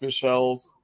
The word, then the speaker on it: Michels: is Osa it is Robert Michels you know sometimes pronounced Michelle's um and who's not